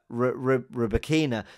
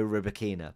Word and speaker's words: Rybakina: i want to get it right elena uh roberkina there was a lot of debate on um